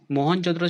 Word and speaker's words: मोहनजोदड़ो: मोहनजोदड़ो भी कहते हैं मोहनजोदड़ों मोहनजोदड़ों शब्दों का सही उच्चारण मोहनजोदड़ों होता है जिसका सिंधी भाषा में